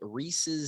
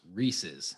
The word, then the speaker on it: Reese's: Riley Moss is going to be attending the Reeses Senior Bowl, which, You know what I found out just recently? It is Yeah. confirmed that it is pronounced Reeses, not Reese's.